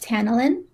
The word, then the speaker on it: Tanalyn: you choose this name for yourself um it's pronounced tanalin um i actually had a friend in grade